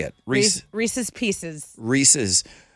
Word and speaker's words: Reese's: Reese's. Like Reese Witherspoon's Pieces.